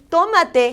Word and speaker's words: tomate: And oh, I want to tell you that the word tomate has an accent on the O. Accent in Spanish means you're going to elevate your sound more. If I don't do that elevation of sound, my word means something completely different.